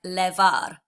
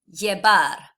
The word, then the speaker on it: llevar: Now, if I didn't know my Spanish phonics, I'd probably say this like levar. That would probably not be understood at all by a Spanish person. So the proper way to pronounce this, break it down. You've got two L's, the y, e, the V is a B, and then ar. So llevar.